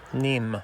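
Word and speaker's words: Nîmes: Um, and it was built to take water to the city of Nims. Did I pronounce that right? Nim. Nim. To the city of Nim.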